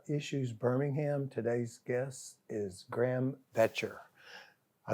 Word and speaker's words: Graham Boettcher: Welcome to our issues Birmingham today's guest is Graham veter I said it right you said it right it's not spelled like Graham but it's pronounced like gram